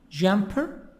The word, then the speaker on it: jumper: First word, jumper. We have also the word dancer. The stress is in the first part.